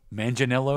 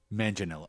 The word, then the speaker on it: Manganello: yeah is that it yeah yeah manginello now it seems like the I'm not pronouncing one of the syllables some people say making more Italian manang L but mananga is fast and works as well Mana or manello manello